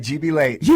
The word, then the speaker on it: GB Leighton: GB Leighton, sir, how are you? I'm doing great. Thank you for having us. I'm saying the name right? You're saying it right, GB Leighton.